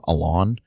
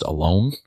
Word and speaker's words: Alon: I kept calling him Alon when the name's supposed to be pronounced Alone. That's entirely on me for not having asked that before. Prior to the recording last week, I'd only actually looked at his name in writing, and it's spelled A-L-O-N.